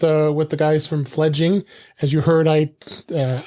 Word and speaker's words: Fledging: i did i had i called it fledgling i didn't know why but it is spelled uh f e f l e d f-l-e-d-g-i-n-g so it's fledging um so uh uh